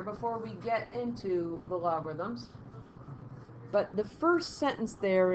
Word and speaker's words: logarithm: we're really looking at logarithms. I capitalized the A because there's a syllable there, logarithm. I don't pronounce it as well as I should, but I'll emphasize it there.